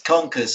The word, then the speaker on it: Conkers: Yeah, that's the other reason I did it as well, because it's Conkers, so it's got a chestnut connection, and it rhymes with bonkers.